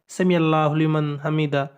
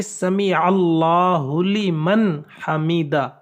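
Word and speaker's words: سمع الله لمن حمده: کی جو تسبیح ہے، بعض لوگ اس میں بھی طرح طرح کی اتنی جلدی کے ساتھ اس لفظ کو کہتے ہیں سمیع اللہ لمن حمیدہ، بلکہ سمیع اللہ لمن حمیدہ، یہ صحیح تلفظ ہے۔ اس کے بعد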